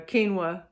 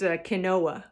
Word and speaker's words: quinoa: long time to learn to say the word uh quinoa i i you know i was raised on phonics so it was always kanoa so anyway if i